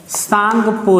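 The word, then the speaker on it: Tsangpo: इसमें जो टी होता है वो साइलेंट है। लगभग चाइनीज लैंग्वेज या जापानी लैंग्वेज में आप देखेंगे तो टी आपको साइलेंट मिलेगा। जैसे आप सुनामी सुने होंगे, सुनामी में टी साइलेंट होता है जबकि स्पेलिंग TSUNAMI होती है।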